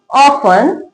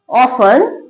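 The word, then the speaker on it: often: Word के last में टी ई एन लिखा हो तो टी साइलेंट रहता है। कैसे पढ़ेंगे? Listen ऑफन ऑफन सोफन।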